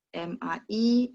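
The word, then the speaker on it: 买: MAI, MAI. Tapi nadanya yang beda ya. Kalau nada 3, mai. Itu beli. Mai.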